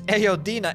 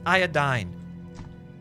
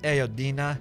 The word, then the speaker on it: iodine: that it's El Dina yes it's ayodina it's iodine not aodina I would never mock